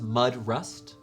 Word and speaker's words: Mudrust: His name is Alfred Mudrust. It's spelled how it sounds, Mudrust.